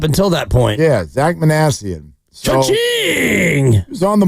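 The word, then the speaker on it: Minasian: us the uh the exact who was the pronunciation sensation. We were calling him Manasian up until that point. Yeah, Zach Manassian.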